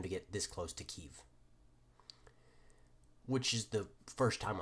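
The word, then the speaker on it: Kyiv: I was expecting primarily, if any offensive, primarily across here, just a straight dash towards Kiev, or Kiev, which is the proper term, or proper way to say the name, because again, Russia's plan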